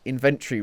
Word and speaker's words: inventory: That's how British people pronounce it. If you go on Google and ask Google to pronounce it, they pronounce it with a tree, not a Tory.